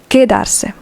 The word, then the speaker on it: quedarse: Remember that if a U is between a Q or a G and an E or an I, and it doesn't have the two dots on top, then the U is not pronounced. In this case, it's quedarse, not quedarse. Quedarse.